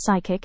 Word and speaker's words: psychic: If a word starts with PS or comes from French, the P is often silent.